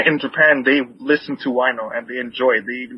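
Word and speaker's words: Huayno: how do you pronounce Wino? Whatever. Oh, sorry, how do you spell Wino?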